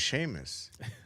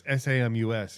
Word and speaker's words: Samus: I always thought it was Seamus. It's Samus, bro. It's SAM. It's SAMUS, yeah.